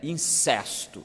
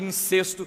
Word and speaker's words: incesto: indiscutível de incesto, ou os puristas da nossa língua insistem que a pronúncia certa é incesto. Então, fica aí as duas pronúncias, né? Seja como for, era um caso de incesto ou de incesto.